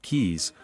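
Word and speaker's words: cayes: The reef system includes three of the four coral atalss in the Caribbean in dozens of K's pronounced keys or small islands.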